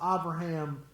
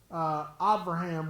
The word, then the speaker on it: Abraham: in the Hebrew, Avraham, Av with a V, not with a B. Bear was asking me, how come I pronounce Abraham with a V and not with a B?